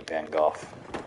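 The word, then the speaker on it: Van Gogh: too you didn't even know his name was pronounced van goof I did too you called him van go like a plebeian huh I mean to be fair I learned it's pronounced van go from Doctor Who so the blood has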